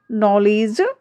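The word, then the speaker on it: knowledge: देखिए, जब जी से ठीक पहले डी आता है, तो डी का जो प्रोनाउंस है, वह नहीं किया जाता है।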